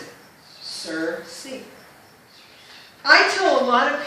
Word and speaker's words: Circe: how it's spelled and this is how you pronounce it sir see i tole a lot of people it's like